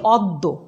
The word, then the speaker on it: অদ্য: এবার সূত্র তিন দেখো, আদ্য অয়ের পরে জফলা যদি থাকে তবে আদ্য অয়ের উচ্চারণ ওয়ের মতো হবে, এটা সূত্র। উদাহরণগুলো দেখো তাহলে পরিষ্কার হবে। যেমন অদ্য, আমরা লিখেছি অদ্য কিন্তু উচ্চারণ করছি অদ্য,